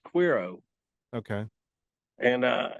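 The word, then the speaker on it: Cuero: or something like that or yeah uh it's pronounced quiro Texas how dare you sir it's it's SP with a c oh okay but it's pronounced quiro okay and uh it's it was a big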